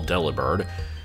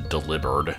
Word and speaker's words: Delibird: of them all delibird although it's probably supposed to be pronounced to delivered nobody ever actually says it that way but I'm pretty sure the name is supposed to be a pun on the word delivered because it delivers presence and it's a bird